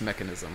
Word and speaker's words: mechanism: with that being pronounced mechanism what's what's the issue CH is frequently rendered as a as a k sound as like in uh